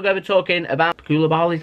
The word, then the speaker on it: Koulibaly: So next up we're going to be talking about Koulibaly, is how you say his name.